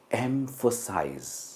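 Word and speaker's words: emphasize: आपको देखने में लगेगा वर्ड्स तो काफी आसान है, पर आप देखिए अगर आपकी प्रोनाउंसिएशन सही है या गलत है। सबसे पहला है एम्फसाइज।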